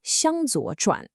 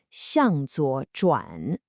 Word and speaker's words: 向左转: That would be 向左转. This specific phrase is notoriously difficult for English speakers to pronounce because of those specific consonant sounds. So we're doing 3 slow repetitions. Ready? 向左转. 向左转.